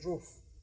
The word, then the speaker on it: Ruff: I pronounce it like in German you would say roof.